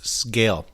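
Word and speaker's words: Sgaeyl: I was gonna say, have we decided how we're gonna pronounce Zaden's dragon's name? It's Scale. I watched a video with the author. Scale. Okay. In my head, it's still Seagull.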